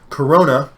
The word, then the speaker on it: Corona: of what I thought so Corona is pronounced like Corona beer are you new to